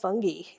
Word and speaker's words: fungi: It says, can fungi, which also can be pronounced fungi, everybody gets their own choices, save the bees?